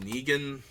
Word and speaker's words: Negan: So this is, I believe his name is pronounced Negan.